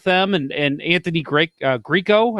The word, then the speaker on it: Grieco: and and anthony great grieco i believe is how you say his name greco yeah greco greco yeah so uh uh we'll